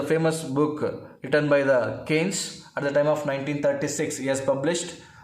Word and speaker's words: Keynes: It is pronounced as Keynes, like Keynes.